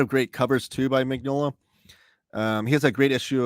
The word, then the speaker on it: Mignola: Mignola Omnibus. Mignola. I'm sorry, I'm trying to always say his name correctly. There's like that weird like Yola in there.